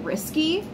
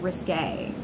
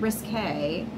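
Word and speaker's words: risqué: Even if it seems a little bit risky, I feel like I should have pronounced that risque. Even if it feels a little bit risque, right?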